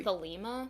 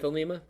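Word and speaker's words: Thelema: right way it's basically the lima is it the lima that's what i feel like i've heard the most at least we'll go with that then we'll give you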